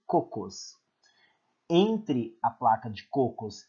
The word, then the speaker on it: Cocos: e a do Cocos, essa é a pronúncia, ok? Cocos.